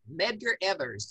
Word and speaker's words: Medgar Evers: megan edgar member yes yes i think i mispronounced that that's close enough medgar evers yes medgar evers everyone who was leading the